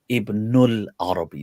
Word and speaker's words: Ibn al-Arabi: the Quran, very famous, usually pronounced with the alif lam in Ibn al-Arabi, so al-Arabi, Abu Bakr Ibn al-Arabi.